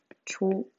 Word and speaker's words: 좋아: I 좋아 할 때 좋아라는 의문이 있었는데 발음은 조아라고 해서 히읗이라는 의문은 아예 완전히 사라진 거죠.